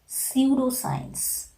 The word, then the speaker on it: pseudoscience: You know, normally letter P is silent if any word is just beginning with the letter P. In that case, we are not pronouncing the sound of P.